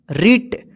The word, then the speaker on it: writ: ठीक है ना तो ध्यान रखिएगा डब्लू के बाद आर रहे या आर से पहले डब्लू रहे तो आप जो है ना डब्लू को हमेशा साइलेंट लेटर माना जाएगा इसको पढ़िए साइलेंट